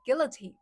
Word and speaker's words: guillotine: Teen on the last syllable. Oh, thank you. It's uh it's Gilla Gill Guillotine. So, it's Gilla guillotine, right? Am I right?